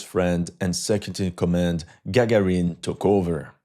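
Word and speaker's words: Гагарін: That's when we learned that his friend and second in command, Gagarin, took over. Because the Ukrainians pronounce G's as H's, they actually say Haharin.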